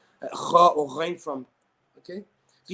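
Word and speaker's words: خ: Even though the makhraj of the letter kha and ghain is adna al-halq. Okay, from the top of my throat.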